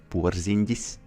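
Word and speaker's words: Porziņģis: Oh, that's a nice list to be put on, you know, because Porzingis, in Latvian, he's pronounced Porzingis.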